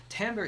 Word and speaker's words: timbre: So remember, it's pronounced timbre.